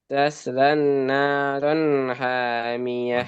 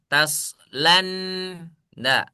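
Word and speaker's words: تصلى نارا حامية: itu lamnya gak boleh dimasukin ke ke nun. Jadi bacanya jangan taslan da ya. Tapi lamnya mad thobi'i, nunnya mad thobi'i. Tasla na ron hamiah gitu ya.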